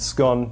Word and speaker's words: scone: that is not a scone few things to point out firstly it's pronounced scone not scone secondly they should all